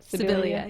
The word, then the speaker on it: Sibilia: Sibilia, yeah.